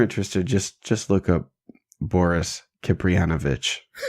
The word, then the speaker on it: Kipriyanovich: Yeah, just if you're interested, just look up Boris Kipriyanovich. It's spelled just like it sounds. Kipriyanovich.